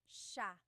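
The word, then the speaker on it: siya: It's sha sha. The s i y combination makes the sha sound in tagalog.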